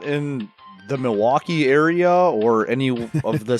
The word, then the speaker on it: Milwaukee: far not in the milwaukee area or any of the surrounding areas that i know of i don't think we have actually it's pronounced miliwake meaning the good light it's coming it's algonquin